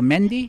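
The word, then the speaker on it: Mandaean: part of a religion I don't know if I'm pronouncing about the men died or Mende that's correct now Americans probably have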